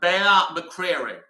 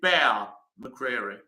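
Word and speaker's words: Bear McCreary: The Walking Dead music yes uh it's uh bear McCreery foreign does pop up quite often so it's I think you pronounce it bear McCreery he's an interesting composer I'm not sure I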